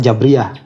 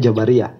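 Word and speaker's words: Jabariyah: itu Jabariah ya nanti kalau di Arabnya bacanya jabriah cuma kalau di kita itu kan terkenalnya Jabariah kemudian ada ahlusunah itu yang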